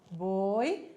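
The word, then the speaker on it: voy: que vai ficar Jô boi Lembrando que o ver tem um sonzinho do bebê então de o boi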